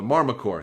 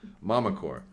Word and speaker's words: Mamacore: emotional trying to the Marmacore. Thank you, Mamacore. Mamacore. Does it mean there's a daddy core? The chat said it was a Mamacore. I mispronounced it.